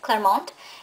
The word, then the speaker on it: Clermont: Can't really, the emphasis is on the way I say it, Clermont.